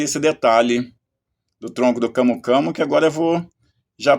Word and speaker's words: camu-camu: Eh, eu falo camo camo, mas é na língua portuguesa pode ser aceita as duas pronúncias, ou camo camo, eh, nazalizado, ou camu também.